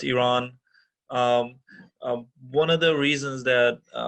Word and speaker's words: Iran: so this is basically i'm iranian and it's pronounced iran not iran as a lot of our dear fellow docs or generally the community around here i see pronounce it as so it's iran one of the reasons that iran's uh you